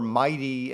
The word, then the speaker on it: MITEI: the MIT Energy Initiative, or MIGHTY as we pronounce the acronym at MIT.